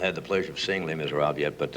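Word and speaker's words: Les Misérables: Do people have trouble pronouncing, and my French is not great, but it's Les Miserables? Les Miserables, right? Miserables. Yeah. You have to use the old Inspector Clouseau type accent, you know.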